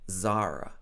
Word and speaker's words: Zara: sports brand and zara so i know this is not the correct pronunciation in spanish all the spanish speakers here can correct me but in the uk we say zara zara topshop this is not